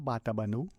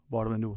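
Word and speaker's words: Batabano: It's not Batabanu, however the people say it, and even from the linguists, Oxford trained and otherwise, who shared with me that even if you were to spell it with a B-A, T-A, it still would be said, B-O-T-A, but it should be Barbanú.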